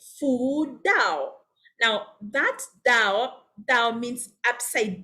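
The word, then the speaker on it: 倒: They invert it because they say Fu Dao. Now that Dao means upside down. It means upside down. However, because it has the same pronunciation as Dao for arriving, it basically means happiness has arrived.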